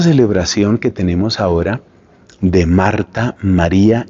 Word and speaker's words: Martin: papás de Santa Teresita de apellido Mart que se escribe Martin Luis y Celina mará